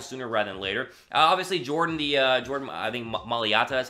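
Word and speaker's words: Mailata: Obviously, Maliata is how you pronounce his name.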